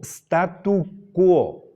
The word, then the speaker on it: statu quo: sí statu qo y en latín la u se pronuncia después de la q Esto no es bueno